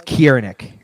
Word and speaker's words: Ciernik: Is it Ciernik? Alex Ciernik. Ciernik. It's the K sound.